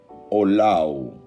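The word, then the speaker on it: עולה: La palabra holocausto proviene de una palabra hebrea que se pronuncia olau.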